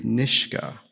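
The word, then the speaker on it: Nishga: Um um Nishka answering the question again what you've just said what it means to be Niska but the title of your book is not Niska it's Nishka.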